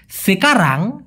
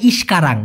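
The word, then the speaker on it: sekarang: সেকারাং অনেকে বলে ইশকারাং। না ভাই ওটা সঠিক উচ্চারণটা হবে না।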